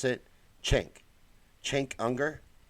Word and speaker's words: Cenk: I know it's not Sink. I know I've been saying it incorrectly forever. Kathy says Chink. That's how you pronounce it? Chink.